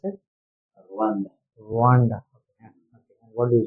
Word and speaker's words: Rwanda: How do you pronounce it? Rwanda.